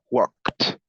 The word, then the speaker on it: walked: Lo mismo que con talk, como termina con el sonido k, su pasado se pronuncia t. Walked, walked. Take, regular o irregular.